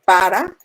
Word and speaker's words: para: Y si está en la posición 4, se dice para, pero se escribe P.